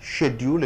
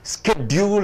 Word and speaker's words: schedule: இந்த அட்டவணையை, ஷெட்யூல் என்பதை ஷெட் யூல், பெயர் சொல்லாக இருக்கிற காரணத்தினாலே ஷெட்டுக்கு அழுத்தம் கொடுக்குறீங்க. ஷெட் யூல் அல்லது ஷெட்யூல், ஷெட்யூல், ஷெட்யூல். இன்னும் போனா அமெரிக்கன் இங்கிலீஷ்ல பார்த்தீங்கன்னா ஸ்கெட்யூல் என்று சொல்வார்கள்.